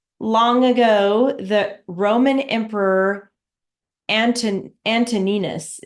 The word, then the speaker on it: Antoninus: Once, long ago, the Roman Emperor Antoninus, is how to say his name, Antoninus, was hunting in the woods and became separated from his party because of a storm.